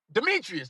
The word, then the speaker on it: Demetrius: Just play Demary, how you pronounce it? Demetrius.